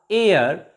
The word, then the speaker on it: heir: H is also silent here, and H-E-I-R, air, not here.